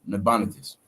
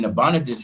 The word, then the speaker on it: Nabonidus: That's how you pronounce it. Nabonidus. Right? So in Nabonidus, he had reigned from 556 BC to around 539 BC, right?